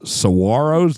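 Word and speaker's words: saguaros: and it's amongst the Saros did I say it right this time SAR we used to say Saro Y no and corrected G in Spanish is a h well it's a h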